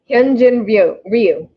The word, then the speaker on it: Ryu: and i hope i say his name right ryu yep you got it he's a left-hand pitcher